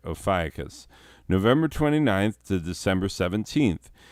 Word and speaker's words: Ophiuchus: album cover moving on opis no ophiuchus that's how you say it ophiacus november 29th to december